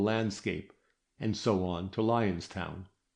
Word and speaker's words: Lion's Town: And here they got on to another line of railway and into a more pastoral landscape and so on to Lion's Town pronounced Linen where they mounted the stage coach which was to take them across the Mo to Camelot.